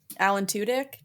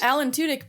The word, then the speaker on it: Tudyk: Alan Tudyk.